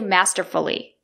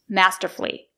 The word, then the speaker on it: masterfully: has done masterfully unbelievably do not say masterfully Do not pronounce it with four syllables it's a three syllable word masterfully I'll give you an